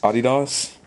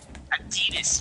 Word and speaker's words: Adidas: Adidas? That's how you say it. Fine. Adidas, you uncultured swine.